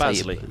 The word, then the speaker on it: Baisley: No, that's just Basley. that's just how you pronounce it.